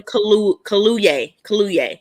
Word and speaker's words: Kaluuya: Daniel Kaluuya is how you pronounce it.